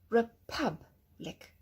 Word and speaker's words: republic: Here's your schwa. Republic. Republic. Because you have the IC ending at the end of the word.